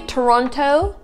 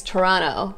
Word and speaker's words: Toronto: would rather say is Toronto, right? So you notice that whenever, sometimes when T comes right after N, you do not really pronounce a T.